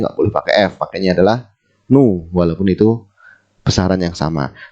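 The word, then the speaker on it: ν: tulisnya adalah bukan Via ini bacanya nu nu nu nu kayak tapi ada ekornya jadi gitu nah mu ini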